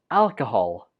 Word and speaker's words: alcohol: raspberry jam on toast 18 is pronounced alcohol alcohol not alcohol alcohol the second syllable uses the sure so it takes a weak form and the stress goes on the first syllable alcohol do you drink